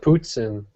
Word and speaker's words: poutine: Yeah, you gotta pronounce it poutine, or you get dirty looks. And even if you do pronounce it right, you still get dirty looks.